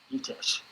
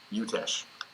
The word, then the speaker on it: Utesch: Your last name, am I pronouncing it correctly? No. No. Okay. Well, please correct me. Utesch. Utesch.